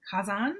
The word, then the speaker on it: Kazan: Another interesting thing is for several years he actually trained Russian incubator developers and managers in Moscow in uh Kazan.